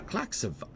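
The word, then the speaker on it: Klaxxi'va: I mean, a Klaxiva, which is how you're actually supposed to pronounce that, and I'm not going to do that ever again, whispers to the tower.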